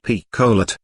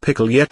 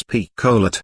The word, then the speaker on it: Picolet: "This here lady is one o' yer teachers, Mamselle Picolet." He pronounced the little lady's name quite as outlandishly as he did Mademoiselle. It sounded like pickle yet on his tongue.